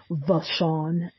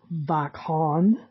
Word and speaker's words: Vachon: pronounced like I said the Sean I have heard it pronounced back Han and I think I'm going to go with a Sean she was born in